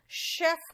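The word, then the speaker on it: chef: आप कहोगे मैम यहाँ पे शेफ कहा आपने, तो शेफ में श साउंड कैसे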